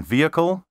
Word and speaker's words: vehicle: pronounced Envoy and envelope don't pronounce the h in vehicle and herb and don't say zoology